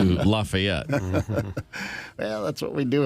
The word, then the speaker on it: Lafayette: street in Hopkinsville Kentucky called Lafayette as opposed to Lafayette well that's what we